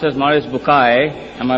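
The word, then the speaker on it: Maurice Bucaille: eminent scientist and a scholar of Quran Dr moris buky pronounced as moris bukai am I right Dr matter okay uh he's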